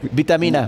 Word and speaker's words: Beatamina: en 5 años en beatamina lo pronuncié bien Vitamina vitamina music Ah vitamina music porque entonces lo teníamos mal Creo es así es que ese juego de palabras de bit precisamente de de la parte musical y bit amina exactamente